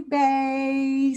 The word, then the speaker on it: bae: Hey, bae. So you're going to say it in kind of a soft way because it's like, hey, baby.